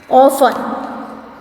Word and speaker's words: often: Often. So T is silent. OFTEN, in this T is silent.